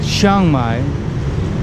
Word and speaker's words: Chiang Mai: Few people pronounce it Chiang Mai, but the Indians are okay with Chiang Mai.